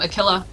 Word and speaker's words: Aquila: I said it right that time, Aquila.